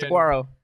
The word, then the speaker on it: Saguaro: Sharon, that's like a hard G in Saguaro. As PHNX's resident Mexican, Saguaro.